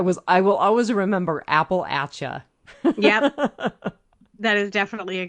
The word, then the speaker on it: Appalachian: see her message yes you pronounce it Appalachia like the Appalachian Mountains but the people and the culture is Appalachian and she said I